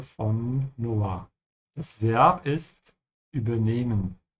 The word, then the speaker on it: übernehmen: which means you have to stretch the E when you speak it. And this is because you have an H after it. Ja? Übernehmen und nicht übernehmen. Ja? Oder übernehmen. So all of these pronunciations are wrong except the first one.